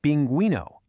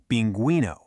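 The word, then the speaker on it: pingüino: Same with binguino, which is binguino. Those two little dots literally give the u its voice back.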